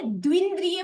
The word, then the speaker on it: द्विंद्रिय: Okay, तो एक इंद्रिय, एक जाति हो गया, 5 जाति है, एक इंद्रिय, द्विंद्रिय, द्विंद्रिय बोलिएगा, बहुत सारे लोगों का प्रोनाउंसिएशन रॉन्ग होता है, तो इसके साथ साथ हम इस चीज को भी समझेंगे।